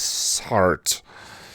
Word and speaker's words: Sartre: I believe the actual proper French pronunciation is Sartre.